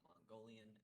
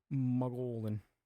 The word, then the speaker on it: Mogollon: I pronounced it wrong. It's not Mongolian. It's Mogol. Mogollon.